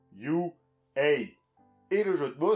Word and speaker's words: U.A.: Le tout parce que c'est un jeu de mots qui n'est utilisable qu'en anglais, puisque ça se prononce You, A.